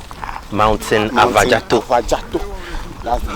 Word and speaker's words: Afadzato: So we said mountain Afadzato. Mountain Afadzato. Afadzato.